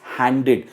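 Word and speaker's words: handed: काफी लोग कहते हैं हैंडेड, इट इज नॉट हैंडेड, क्योंकि वो ईडी को ईडी के साथ कंफ्यूज हो जाते हैं। इट्स हैंडेड। जो ईडी की प्रोनाउंसिएशन है एंड में, वो इड करके आती है, हैंडेड।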